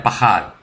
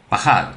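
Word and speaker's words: פקד: En hebreo es Paquad, se pronuncia Pahad, que significa numerizar. Pahad, que significa numerizar.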